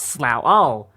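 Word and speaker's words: Sluagh: Okay, it's just pronounced SLAUGH. Oh, that's pronounced the same as the place I was born.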